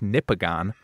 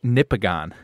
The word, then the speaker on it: Nipigon: okay thank you Nippon it's like Michigan but nipples so this is the